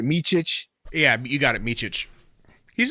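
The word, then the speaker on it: Mičić: Now, how do you pronounce the dude's last name? Is it Micic? Yeah, you got it, Micic.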